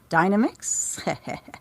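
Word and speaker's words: Dynamix: enough the the heart of China that's a Dynamics yes that is the correct pronunciation of course it is it's nothing to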